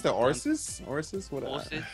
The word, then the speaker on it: Osiris: Is it pronounced the Orsis? Orsis? What? Orsis. Osiris.